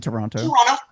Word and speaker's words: Toronto: is what I say Toronto it sounds different cuz we don't pronounce the last T in it okay yes thank you